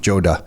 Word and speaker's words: Joda: thank you we are recording with femi Joda am I pronouncing your last name properly Joda Joda yes and that that last name is from